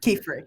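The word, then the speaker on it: Qifrey: a male witch named help me with this pronunciation is it ke okay ke fre ke fre yep and after she Witnesses how he uses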